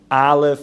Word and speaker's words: aleph: see how it looks and he pronounced like aleph you know ah if you put a a Pata it's an ah or there it's like an ah right he would explain